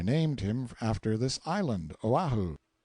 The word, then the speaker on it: Oahu: him after this island Oahu pronounced oh while he the first gate he